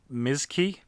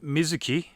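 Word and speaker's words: Mizky: also stars vivian wu as mizki not mizuki mizki anytime this particular character this particular version of the character's name is spelt it's m-i-z-k-y completely missing out the u and the i it it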